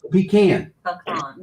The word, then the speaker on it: pecan: Pecan.